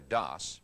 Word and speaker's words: DOS: disk operating system or dos pronounced like toss is like an office manager